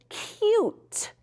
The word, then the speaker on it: cute: What if I wanted it to say cute? Cute. How do I make that U say you? That's right. We got to put a silent E on the end.